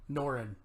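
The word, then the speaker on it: Norrin: I know I'm gonna mispronounce it, Mark. Noran? Norin.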